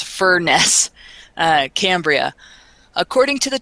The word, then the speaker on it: Furness: in a bar in Barrow in furnace that's Furness uh Cambria according to